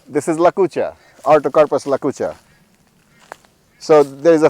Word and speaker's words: Lakucha: How do you spell that? I've never heard of it. So Lakucha is L-A-C-U-C-H-A.